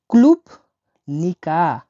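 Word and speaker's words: клубника: স্ট্রবেরিকে রাশিয়ানে বলা হয়, দেখুন, ক্লুব নিকা।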